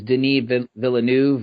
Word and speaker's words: Denis Villeneuve: Yeah, and after securing a guy like I think is how you pronounce his name is Denis Villeneuve or Denis Villeneuve.